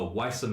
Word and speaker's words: Weiße: It is spelt, if you are Weiße curious, W-E-I, the lovely B that is not a B, that is an S sound, unless I'm mistaken.